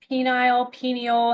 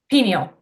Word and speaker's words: pineal: Pineal gland, maybe? Pineal. Pineal. Some Gotcha. say pineal, it's a variation of how to say it.